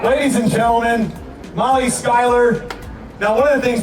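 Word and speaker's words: Schuyler: say it right uh Dan over here keeps going shoer shoer because of how it's spelled and I just want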